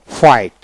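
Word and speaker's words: fight: হাই হাই ্রো এখানে টটি ইউটি ট এভাবে উচ্চারণ করবেন তারপর আসেন এখানে ফাইট তারপরে বাও daughter D ইউ জি এস টি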